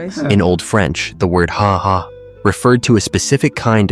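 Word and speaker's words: Ha! Ha!: Lui Duha is pronounced haha not like a laugh.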